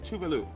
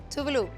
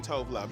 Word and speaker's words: Tove: RuPaul's Drag Race, and Mother gave the proper pronunciation of your name. She did. Okay, so let's do did. it. It is Tove. Tove. Perfect. Boom, Perfect. right? Because we were saying Tove Love.